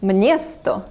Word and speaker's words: město: After M, it inserts a ñ, so this word, which means town, is actually pronounced mniesto.